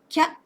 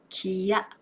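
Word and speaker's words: きゃ: For example, when the small ya follows the character ki, the vowel sound I disappears, and it is pronounced as kya for one beat, not kiya for two beats.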